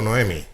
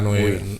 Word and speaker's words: Noemí: ¿Es Noemí o Noemi? ¿O Naomi? Naomi, desde luego, no. Yo creo que es Noemí, creo que lleva tilde en la I.